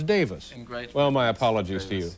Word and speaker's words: Davies: and all last night i was calling you davies because it's spelled d-a-v-i-e-s but of course in in great britain it's davis well my apologies to